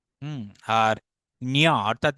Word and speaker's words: ঞ: নিয় নিয় নিয় ন উচ্চারণ হবে না, অর্থাৎ ন নাসাল নেসাল সাউন্ড হবে না, এটা মূর্ধতে উচ্চারিত হয়।